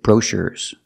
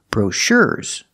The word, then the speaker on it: brochure: to the second syllable brochures we have to put the stress on the second syllable again brochures brochures I cannot say brochures we have to put the stress on the second syllable brochures and what are